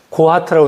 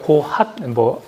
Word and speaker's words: 고핫: 성막을, 회막을 중심으로 무라리, 게르손, 고하트라고 하는데 고핫, 개역개정 고하시고 보통 이제 고하트 이렇게 발음하는데 이렇게 세 개의 레위 가문이 있고 그리고 모세와 아론 대제사장 가문이죠.